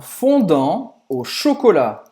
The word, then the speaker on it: fondant au chocolat: Un fondant au chocolat. Un fondant au chocolat. Un fondant au chocolat. Isso é o petit gâteau que você gosta, Nenhum dos dois T's vai se pronunciar.